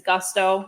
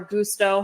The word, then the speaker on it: Gusto: our top recommendation is Gusto or Gusto however you want to pronounce it I've asked them they said it's pronounced either way which is great because